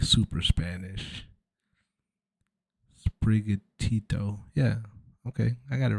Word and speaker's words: Sprigatito: And I always said Spirit Gato. Don't kill me. I legit said Spirit Gato for like 2 years until I realized it was Sprigatito, which is like super Spanish. Sprigatito.